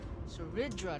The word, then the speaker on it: Saridra: Saridra, that's how you say it.